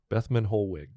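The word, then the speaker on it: Bethmann Hollweg: his name uh this is uh Theobald van bethman holg that's right bethman holwick so so he served under Wilhelm um his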